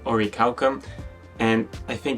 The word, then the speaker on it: Orichalcum: as for Ori calcum this bait is pronounced in Japanese but I'm going to stick to the pronunciation or recalcum and I think it's